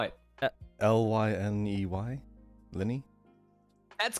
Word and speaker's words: Lyney: How do you spell it? Lyney? Lenny?